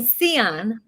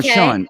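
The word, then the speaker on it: Sian: guest uh concerning you today a girl named seon no sean i know it looks like it's s-i-a-n but it's pronounced sean michelle and she's just an amazing person for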